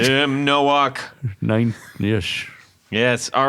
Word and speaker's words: Nowak: I think it's Tim Nowak. Well, that's right. I think We're going to say it right. You said it right. Tim Nowak.